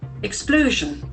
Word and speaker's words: explosion: Explosion. Explosion. We have 3 syllables. Explosion. And accent falls on the second syllable. Explosion. Explosion. That O sound is very prominent.